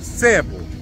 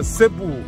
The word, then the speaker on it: Себу: Дело в том, что на тагалогском языке, языке аборигенов, местных жителей, все-таки правильнее Себу. Но почему миру городок известен, вернее, даже остров известен как Себу? Потому что так его стали произносить испанцы и распространили на все другие языки этот остров как Себу с ударением на гласную самую последнюю, на У.